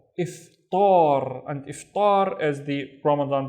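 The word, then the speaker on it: إفطار: Remember, Hamza with the kasra is e, right? So this is if, and then tar, iftar, and iftar is the Ramadan breakfast.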